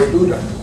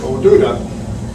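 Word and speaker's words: O'Dubhda: it's not, it's O'Duda. In the Celtic, it's pronounced O-D, it's spelled O-D-U-B-H-D-A, but it's pronounced O'Duda.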